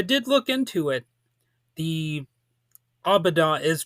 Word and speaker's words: Äbädä: The aboda is pronounced exactly like that. So, don't let all those little special characters fool you.